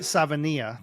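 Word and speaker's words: Savaiinaea: I always pronounce Savania, right? Savania. Thank you very much. I even wrote it down phonetically so that I wouldn't mess it up, and I still messed it up. Savania is Polynesian, loves Panay Sewell, right?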